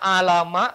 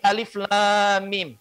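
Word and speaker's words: الم: Bukan bacanya alama, tapi alif lam mim.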